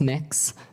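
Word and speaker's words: Mx: what you're you're proposing it's pronounce mix um mix is that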